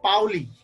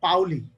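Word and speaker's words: Pauli: একজন বিজ্ঞানীর নাম হচ্ছে পাওলি আমরা আসলে পলি বলি আসলে ওর নাম হচ্ছে পাওলি আসলে উচ্চারণের ক্ষেত্রে দেখো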